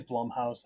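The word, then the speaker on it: Blumhouse: is it u m I know in the game sh they were calling it Blum House but I've never called it that it it is Blum House I think I was saying it wrong I say yeah one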